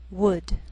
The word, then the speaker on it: would: Sometimes L can be silent, so you have to be careful. The first 5 words listed below are very common, so let's take the time to make sure that you're pronouncing them correctly. Listen and repeat after me. Talk, walk, could, should, would.